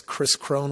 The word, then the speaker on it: Kris Krohn: people find me on social media my name is spelled a little funny it's Chris Crone with KK Chris K RIS and honestly uh